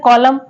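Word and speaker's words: column: silent है next word है कॉलम कॉलम में जो एन आ रहा है वो साइलेंट है नेक्स्ट वर्ड है डैम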